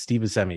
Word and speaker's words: Steve Buscemi: the actress's body and I always mispronounce his name Steve Buscemi it's Steven semi yeah he has a